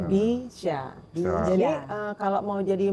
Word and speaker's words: BYSA: Bya itu BCA, syya syariah. Jadi bacanya bisya.